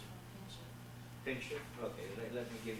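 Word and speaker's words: Pinczów: And apostrophe, now remember apostrophe on the O. And it's pronounced the U. Pinchot.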